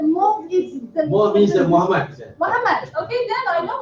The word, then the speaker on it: Mohd: MOHD is pronounced as Muhammad. MOHD. Is pronounced as Muhammad. Yeah, right again. Oh, so it's not Moht.